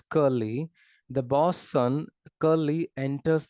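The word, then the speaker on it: Curley: boss son curly c-u-r-l-e-l-e-y I think it's pronounced as curly the boss son curly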